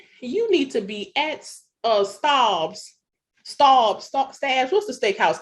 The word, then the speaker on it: Staub's: But somebody should be saying, you need to be at Staub's. What's the steakhouse called? How do you pronounce it, Letitia? I want to say Stabs. Stab. I was trying to sound upper echelon. Staub's.